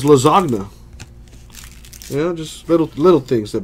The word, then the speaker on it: lasagna: them in the word like lasagna the G silent in that what's the point of putting a random G in there if it's not gonna be pronounced lasagna yeah just little things